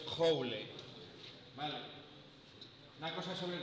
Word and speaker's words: Joule: Y los franceses, pues, lo pronuncian así, creo. Yo francés no sé, pero escrito es Joule.